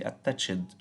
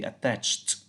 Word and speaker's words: attached: care of the pronunciation we don't say attach it we say attached as if we are we have here a t attached means more also when